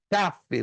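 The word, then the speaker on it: כף: ponto não café café café você dá entonação na primeira sílaba é difícil gente que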